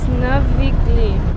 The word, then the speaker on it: Navigli: It's Navigli. Navigli. Definitely got the pronunciation on that one all wrong, but whoa, look at this.